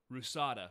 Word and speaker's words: RUSADA: and he worked for rusada which is spelled p-y-c-a-d-a but in cyrillic um but it's rusada which is russia's anti-doping